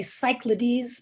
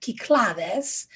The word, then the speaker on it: Cyclades: Now, these islands in the middle, Naxos, Mykonos, Tinos, these are in, well, we would say Cyclades, but the Greeks pronounce that Kyklades.